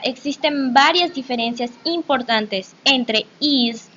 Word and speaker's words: EES: Así es, chicos y chicas, nosotros vamos a hablar sobre EES, que se pronuncia EAS, que es el acrónimo